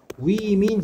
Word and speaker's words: women: 근데 얘는 발음이 어떻게 했냐? women, 이렇게 되는 거야. 스펠링 다르지?